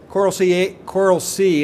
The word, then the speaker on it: Coral C: Coral C is the way it's pronounced, and it's a new sort of innovative way of approaching innovation and collaboration, or commercialization, excuse me.